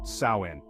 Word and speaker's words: Samhain: Year October 31st was known as samhan pronounced saen samhan was a time of